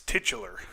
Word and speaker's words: titular: shouldn't say one of the Tyler characters, but sorry, it's titular is the correct pronunciation.